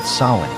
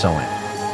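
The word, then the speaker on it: Samhain: For them, the year ended on October 31st, the night of a great festival called Sin, pronounced Sen.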